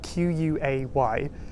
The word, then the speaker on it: quay: So quay is spelled very differently, Q-U-A-Y.